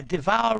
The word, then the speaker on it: devour: Yeah, devour rhymes with power.